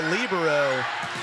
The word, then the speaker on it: libero: The libero will go back and serve. Yaden. That is correct. Trying to tie this up for the Braves. Or the libero.